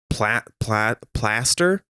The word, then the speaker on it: Plaster: And it's pronounced platypus. Yes. Plaster.